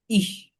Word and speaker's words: ich: ইহ, মিহ, Ich, ডিহ। ich, ইহ mich, dich. কয়ের মতো উচ্চারণ করে ফেলেন।